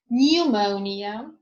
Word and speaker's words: pneumonia: Okay, now is silent in the groups of letters PN, PS, PT. For example, pneumonia, pneumatic, psychic, pseudo, ptarmigan, receipt.